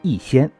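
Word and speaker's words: 日新: 日新这两个字用广东话来发音就是一仙，所以孙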